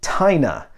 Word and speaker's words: Tina: So Downbeat, on the other hand, in their review of this album from 1961, states that his name is pronounced Tina, as in tiny.